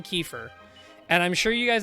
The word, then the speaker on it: Kiefer: I read it, I immediately go Kiefer. And I despise myself for saying that, because it's definitely Kiefer.